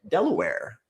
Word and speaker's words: Delaware: So coming in at number one rhymes with underwear. We're going to go Delaware where one in every 1924 properties is currently in foreclosure.